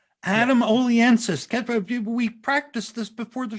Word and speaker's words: Oliensis: tonight funnyman adam aliensis what's your name adam oliensis we practiced this before the show tom yeah he pronounced it correctly which puts him ahead of